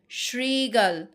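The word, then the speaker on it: শৃগাল: এই যে যখন এরকম লিখা থাকবে শ্রমিক শ্রমিক এখানে দেখো শ্রমিক শ্রিগাল শ্রীগাল এখানে কিন্তু শ্রীগাল এরকম উচ্চারণ হচ্ছে তোমরা আমার সাথে সাথে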